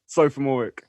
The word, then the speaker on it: Sophomooreik: Sophomooreik.